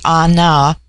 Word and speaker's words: Ana: put upon individual inclination the word Ana pronounced broadly on now corresponds with our plural